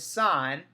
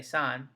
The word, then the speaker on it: sine: sin but we again we still say sine not sin make sure we don't